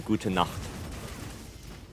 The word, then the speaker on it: gute Nacht: Gute Nacht. That's how you say it. Right? Not good night, no, Anvil, that's wrong. It's gute Nacht. And also it's not guten, it's gute.